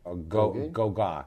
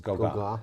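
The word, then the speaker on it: Gauguin: G A U G U I N Go. That's what it is. Go. Go is how it's pronounced. Okay. So, it's the Goa Partners LLC is called.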